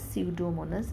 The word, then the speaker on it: Pseudomonas: P is silent. You pronounce it as Pseudomonas bacteria.